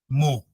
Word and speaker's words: mho: पर ओम या ohm inverse, या आप इसको ऐसे भी बना सकते हो, ओम को उल्टा कर दिए, या फिर स्पेलिंग को भी उल्टा कर लो, MHO, मो।